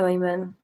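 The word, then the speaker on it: Eamon: My name is Emon. It's an Irish name, but it's pronounced the same as the Arabic name Ayman. Oh, is it? Okay. Nice to meet you, Ayman.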